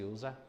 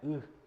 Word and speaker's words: y: Sempre se usa quera, tá bom? Aí nós temos água. Água em Guarani se pronuncia U, letra Y.